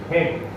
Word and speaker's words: head: HED हेड. भले spelling याचं HEAD आहे पण वाचताना आपण काय वाचत आहे हेड. बरोबर आहे. म्हणून इथे हा ए सायलेंट आहे.